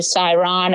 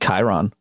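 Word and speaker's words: Chyron: put this sighs a siren of creepy porn lawyer I think it's pronounced Chiron Chiron sorry the Chiron of creepy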